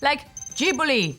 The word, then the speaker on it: Ghibli: Ghibli, as in Studio Ghibli, is pronounced with a J sound, like Ghibli, and not with a hard G sound.